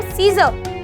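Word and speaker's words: scissors: अगर मैं बोलती हूँ सीजर, तो सीजर में भी S और C एक साथ आता है, इसलिए हमने केवल S को प्रोनाउंस किया और C को बच्चों छोड़ दिया।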